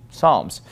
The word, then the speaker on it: Psalms: with PS but we we usually don't pronounce the P right for example fold a book of Psalms we don't call it Psalms we just call it Psalms psychologist we would not